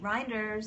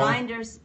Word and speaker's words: Kate Reinders: is it with Kate reinders that's how you say it people rinders rhymes with Grinders learn it know it